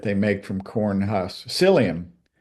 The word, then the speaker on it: psyllium: make from corn hus psyllium it's kind of silly but it's got a PE on the front of it so pelium if you're W to pronounce that P in there but psyllium husk fiber not in